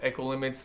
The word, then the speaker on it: Ekolimits: And I'm your host, Echo Limits, that's spelled EKOLIMITS.